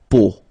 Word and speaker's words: peau: three vowels combined together, it's the sound O. Okay, so really simple, O, okay, so you get la peau, okay, la peau.